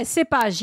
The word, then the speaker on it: cépage: Yeah, cépage, yes.